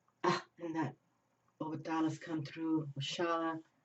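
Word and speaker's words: Oxalá: Oshala, how do they pronounce it in Portuguese? Oxala.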